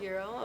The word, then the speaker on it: gyro: Actually, I actually just found out that it's spelled gyro, but it actually is pronounced gyro. Euro, okay.